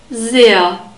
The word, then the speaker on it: sehr: We have a soft S at the beginning of sehr and a long E sound and a central A sound. So the H is a lengthening H in this word. Sehr. The H is only there to make the vowel E long. And the R is pronounced like a central A sound. So it's not a guttural R.